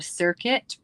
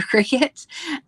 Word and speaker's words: Cricut: in those days, so we were calling it a circuit or instead of a Cricut.